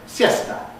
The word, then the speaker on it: siesta: So, in Spanish, there's a word Well, you can think of it as basically siesta, but because the Spanish rule obligatorily compresses here, you get siesta. That's the actual pronunciation, and it actually has two syllables.